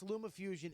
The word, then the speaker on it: LumaFusion: this LumaFusion is the easiest. It's Is it fucking pronounced?